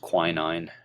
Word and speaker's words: quinine: form of the medicine known as quinine that can also be pronounced quinine you might hear it said that way either pronunciation is acceptable but Quinn nine less